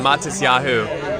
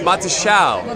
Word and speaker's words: Matisyahu: So in the States, we had a Jewish rapper named Matisyahu. And so I said Matisyahu, but it's Matisyahu. Matisyahu. Matisyahu. Matisyahu. Matisyahu. That's like the rapper.